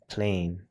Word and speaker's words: plane: page 12 it's plan but we add the magic e the vowel a becomes long and on page 13 we don't say plan we say plane silent E cannot explain